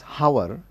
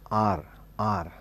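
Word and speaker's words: hour: for instance h-o-u-r we don't pronounce it as hover we pronounce it as r r so we always say anar and our half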